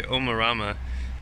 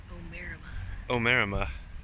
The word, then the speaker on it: Omarama: And the next town with a station like this is uh we would say Omarama, but he said Omema. Um, why would anyone think that that's how you pronounce it?